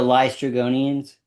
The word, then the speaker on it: Laestrygonians: Oh, the Laestrygonians? Them. Laestrygonians.